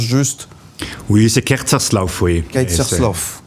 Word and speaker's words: Kerzerslauf: oui c'est kersl oui kerslov il faut le faire avec l'accent kerslov comme ça très bien merci en